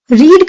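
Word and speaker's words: read: secured the eighth rank रीड का मतलब होता है पढ़ना और यहां पे उसकी सेकंड फॉर्म यूज की गई है रेड स्पेलिंग सेम होती है बट प्रोनंसिएशन अलग होता है तो मैंने पढ़ा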